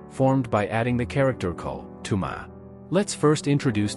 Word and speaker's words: 口: Is a pictographic representation of a mouth and is associated with the sound Coke. In the context of thirst, many Americans often reach for a Coke. In Taiwan, ko is even used in the name of the Coca-Cola brand.